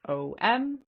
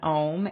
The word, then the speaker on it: Om: So A is the first sound in Om, and it's pronounced like AH, like ah, yes. And the U is pronounced like a long O or a double O. So it's a natural continuation of the sound that begins with AH. So it's pronounced like, oh, like when you remember something.